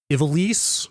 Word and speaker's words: Ivalice: Ivalice is how they say it very much in the game. I've been pronouncing it very much like the wrestler Ivalice. So right. That's kind of how well I'm jumping the gun here. That's how I went into this pronouncing it, but all the voice actors say Ivalice.